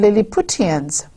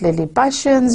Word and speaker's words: Lilliputians: When you write it down, you might be calling them Lilliputians. It's a proper noun, so you can pronounce it Lilliputians, you can say Lilliputians. It is entirely up to you.